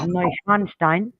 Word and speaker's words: Neuschwanstein: through there was a double page spread of neuschwanstein which is how you pronounce that famous white castle in germany that's